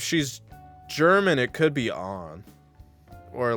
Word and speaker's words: Ann: from Japan if she's German it could be on or like European but regardless they're definitely pronouncing it on just so it rhymes with